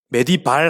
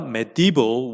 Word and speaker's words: medieval: 메디발 하고 있지 마세요. 메디발 아닙니다. 그래서 medieval이 되겠네요. In the medieval world. 요거 안 보이니까 지워드릴게요. medieval world. 보입니까? 네, medieval이라고 읽는 것이 정확합니다.